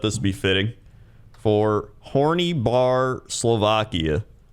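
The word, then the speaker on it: Horný Bar: should post it again it's pronounced horny with a rolling R and a long e sound for the Y and bar again with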